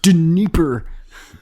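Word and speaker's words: Dnieper: yeah i'll take them you mispronounce that guy's name it's de nipper is the neighbor an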